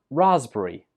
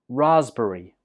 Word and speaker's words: raspberry: has a silent letter the P letter is not pronounced this word is pronounced raspberry raspberry three syllables Raz berri